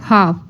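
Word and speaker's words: half: pronounce में नहीं होगा एल एल में साइलेंट क्या है एच ए एल एफ हाफ बोलने में हाफ होगा लेकिन प्रोनाउंस एल नहीं होगा ठीक है नेक्स्ट है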